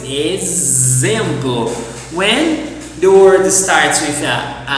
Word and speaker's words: exemplo: But also in Portuguese, the letter X can be pronounced as a Z. Yes, for example. For example in Portuguese. Exemplo.